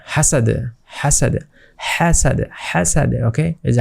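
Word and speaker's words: حَسَد: আর এখানে টান হবে হাসাদ লাস্টে আরেকটা দাল এসেছে অর্থাৎ এটা কলকলা করে পড়তে হবে ধাক্কা দিয়ে পড়তে হবে হাসাদ হাসাদ হাসাদ হাসাদ ওকে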